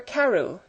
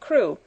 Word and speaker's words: Crewe: Madame Pascal pronounced it as if it were Carew instead of Crewe, but that might be merely a matter of pronunciation.